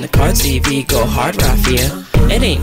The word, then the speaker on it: RaFia: to what I say, Rafia. Don't put the emphasis on the A, put it on the I, let it terminate, Rafia. Who got big bar success and the card CV, go hard, Rafia.